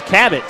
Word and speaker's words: Cabot: now 3 for 7 Cabot to make it a one-point game rattles at home spells at ka ba t pronounced like the Explorer John Cabot Capt there's the long